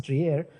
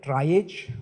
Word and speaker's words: triage: Pro I'm told that it is supposed to be pronounced as Trier it came from the word rare So triage but you may call it dry age no issues we are